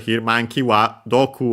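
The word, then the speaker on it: 毒: Doku actually should be on its own Doku, if I recall correctly. We've seen it in this series, Poison. And the accent on the last mora on its own.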